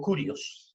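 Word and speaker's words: κύριος: Y ese es el término que se utiliza en el Antiguo Testamento, en la Septuaginta, en el griego kurios, se pronuncia, es el término que se utiliza para Dios.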